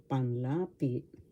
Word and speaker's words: panlapi: means panlapi in tagalog first syllable pan second syllable la third syllable p panlapi the accent is in the second syllable for panlapi.